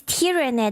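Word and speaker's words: Tyranid: So, it's tyrannid. That's how you pronounce it.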